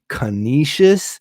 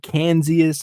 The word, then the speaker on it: Canisius: I think it's Canisius, but I've said Kansas. I've said Canisius.